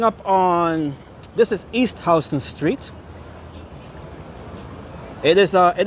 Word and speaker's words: Houston: So, we're coming up on this is East Hston Street. It is uh it is it is spelled the same way as Houston, the city in Texas, but it is pronounced H as in house.